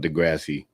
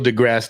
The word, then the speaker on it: deGrasse: on the planet on a TV show called Degrassi. Wait a minute. Did I say it wrong? Neil deGrasse Tyson is the Neil deGrasse.